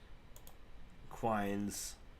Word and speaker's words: Quine: a client or foreign how to pronounce Quine Quine Quine there we are so what is a